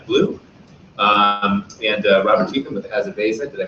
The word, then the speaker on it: Azaveza: Like Tangi with United by Blue, and Robert Teetham with Azaveza. Did I pronounce it right? Azavia.